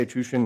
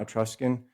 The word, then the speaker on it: Etruscan: I say Etruscan, not Etruscan, because it's a Latin word, Etrushi, and the SC is pronounced like an SH in Latin.